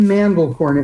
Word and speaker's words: Mandelcorn: And to remember the name, the man was the farmer in the Dell and he raised corn.